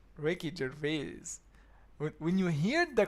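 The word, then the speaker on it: Ricky Gervais: This is how you say his name, Ricky Jerves.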